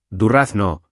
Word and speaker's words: durazno: Y durazno no lleva tilde, durazno, como suave, ¿vale?